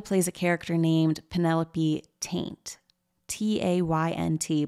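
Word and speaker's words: Taynt: So one of these jokes is that for The Amanda Show, Amanda plays a character named Penelope Taint, T-A-Y-N-T, but of course it sounds like the word taint, okay?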